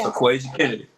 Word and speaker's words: Aquazia Kennedy: We want to get justice for Aquazia Kennedy. Did I say her name correctly? Yes, Aquazia Kennedy.